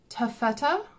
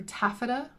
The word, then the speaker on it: Taffeta: This is Glacial Melt, Seafoam, Navy, Taffeta, or Taffeta, I think is how Americans say it, and Charlotte's Pink.